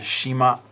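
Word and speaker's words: 島: Shima. Some of you may have heard the word Shima as parts of city names or things like that. You'll see the word Shima, Hiroshima, right?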